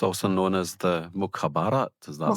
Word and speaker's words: Mukhabarat: And it's also known as the Mukhabarat. Is that the right way to pronounce it? Mukhabarat.